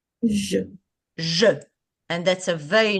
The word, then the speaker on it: je: That's a that's a word that is very simple that you can practice the E. Because the G with the E is very simple to take out the E nicely. The sound of the E itself.